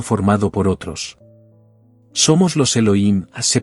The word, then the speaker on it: Elohim: compuesta de uno formado por otro somos los Elohim se pronuncia Elohim que forman yo de B se